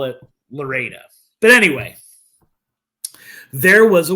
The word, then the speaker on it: Florida: It's pronounced Loretta. I understand that. But forget it. You know, people are going to call it Lorida.